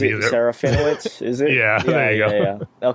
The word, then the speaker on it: Serafinowicz: What's his last I can't pronounce his last name either. Serafinowicz, is it?